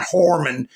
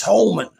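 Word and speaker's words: Homan: First of all, if you want to know everything about him, learn how to pronounce his name. It's not Horman, it's Holman.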